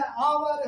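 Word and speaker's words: hour: अब जब उच्चारण के अनुसार जब करेंगे तो ऑनेस्ट है, आवर है, ओमैन है और ऑनर है।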